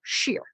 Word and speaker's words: Scherer: It's Scherer, but it's just one syllable, Shear.